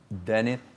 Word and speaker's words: Dennis: Yeah, so the one N it's Denis, like Denis, from Spain. My dad was from Spain, so it's just how it's pronounced.